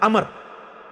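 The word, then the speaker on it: عمرو: है लफ है अमर लिखा होता है उमरू लेकिन उसका मतलब व जो है व साइलेंट होता है और वा का मतलब यह है कि आपने इसे पेश की बजाय जबर से पढ़ना है उमर की बजाय पढ़ना है अमर तो हजरत अमर बिन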